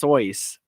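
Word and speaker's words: Seuss: fun fact his name is actually pronounced soyce okay this this did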